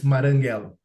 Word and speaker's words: Marranghello: But the correct pronunciation is if with the sound of one R, even if we have two. It's Maranghello.